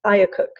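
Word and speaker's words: IACUC: it's I a see you see which we pronounce ayah cook now nya cook is exactly like an institutional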